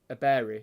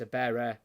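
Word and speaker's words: Eberechi: It's not Abere. It's Abere. It's like air.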